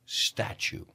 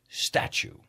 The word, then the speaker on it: statue: Statue. Right, la T y la U es ch. Statue.